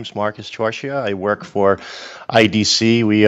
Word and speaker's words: Torchia: Marcus and I think Marcus your surname is torche is that how I'm pronouncing it or that is how I'm pronouncing